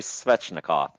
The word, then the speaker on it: Svechnikov: Oh, Andrei Svechnikov. Pretty close. It's Andrei Svechnikov. Svetch. Yes, Svetch. Svech. Yep.